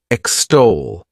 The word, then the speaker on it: extol: The next verb is extol. To extol, this word has 2 syllables, and the stress is on that second syllable. Extol.